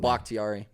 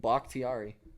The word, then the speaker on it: Bakhtiari: I don't know how to pronounce his name. Bakhtiari. Bakhtiari. One of their tackles. Our left tackle, dog. How do you say it again? Bakhtiari.